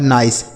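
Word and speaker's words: nice: आई का उच्चारण आई। तो यह लिखा है नई सी ई से सौ। यह लिखा है नाइस।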